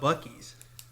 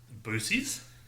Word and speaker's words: Buc-ee's: how do you feel about Buc-ee's? Boosies?